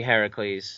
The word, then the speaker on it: Heracles: Hercules well Heracles technically the name is actually Heracles yes allly is very serious